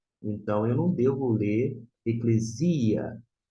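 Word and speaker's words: ἐκκλησία: Esta é a pronúncia, eclesia. Provavelmente você já ouviu falar eclesia, eclésia.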